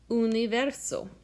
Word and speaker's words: universo: In the English word universe, we actually add an extra y sound before the u. Universe. But if you take out that y sound that we make, it becomes universe. And in Esperanto, the word is universo.